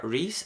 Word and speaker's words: Rees: mío es r e e s y se pronuncia reis Aunque yo aquí en España eh Como estoy